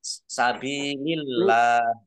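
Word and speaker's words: سبيل الله: Jadi kata Allah itu kalau harokat di depannya kasroh itu dibacanya ya tipis maksud saya. Maksudnya tipis, dibaca ringan. Ya. Dibaca tipis. Sabilillah.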